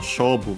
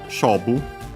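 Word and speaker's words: 勝負: Accent on the first mora, it's a Chinese compound, and so yeah, it's the second most common accent for those.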